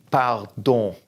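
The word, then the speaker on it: pardon: know you've heard this don't say the N at the end bow don't about don't that means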